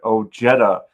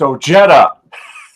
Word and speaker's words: Ojeda: to talk about Richard Ojeda. Yes, I pronounced your name right. It's Ojeda.